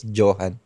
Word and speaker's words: Johann: kahit saan kahit nga dito sa ano sa Pilipinas mostly Johan ako pag tinatawag eh ganun ang nagiging pronunciation ng pangalan ko pero ang tama talaga is Johan yan yun so i-correct